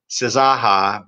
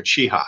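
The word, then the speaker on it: Czaja: name i've been referring to him as dr zaha but you pronounce his name dr chiha and dr chiha is pretty much the world's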